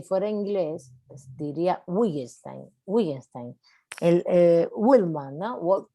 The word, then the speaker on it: Wittgenstein: si fuera inglés, diría Wittgenstein. Wittgenstein. El Willman, ¿no? Walt Whitman, ¿no? Por ejemplo. Whitman. Es diferente la pronunciación de la W en inglés que en alemán. Es como una B.